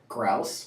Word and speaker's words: grouse: Grouse rhymes with mouse. Grouse is also a bird.